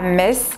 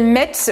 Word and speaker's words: Metz: de la mauvaise façon moi je disais Metz donc je prononçais le thé et en fait j'ai appris que ça se prononçait Metz du coup j'ai juste